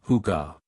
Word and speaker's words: hygge: Huga is pronounced huga.